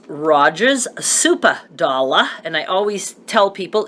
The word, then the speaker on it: Supa Dolla: Rogers meat market or grocery store it's Rogers supa dolla and I always tell people it is actually